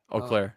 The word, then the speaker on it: Eau Claire: How do you pronounce that? Eau Claire. Oh, Eau Claire.